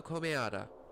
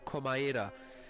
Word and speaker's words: Komaeda: Nagito Komeada. Komaeda? Jeez, how do I have problems pronouncing Japanese words? Komaeda.